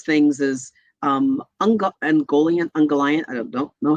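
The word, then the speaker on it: Ungoliant: is um unga angolian ungallant i don't don't know how it's pronounced um was a mic first of all christopher tolkien pronounced it like um he really stressed the last syllable in there's uh you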